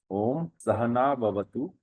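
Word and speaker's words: Om Saha Navavatu: So the pronunciation is Om Sahana Bhavatu.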